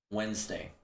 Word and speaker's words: Wednesday: The D, the silent D, yeah, it's so annoying, yeah.